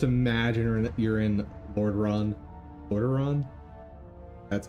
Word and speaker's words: Lordaeron: Lordaeron?